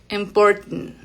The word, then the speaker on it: important: Ahí tenemos un sonido así. Ahí suena como si fuera nt al final simplemente y la t aquí detenida como sonido glotal. Important. Y como pueden ver es muy nasal.